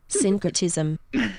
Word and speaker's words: syncretism: Since culture is like okay, so how do I pronounce this? Syncretism.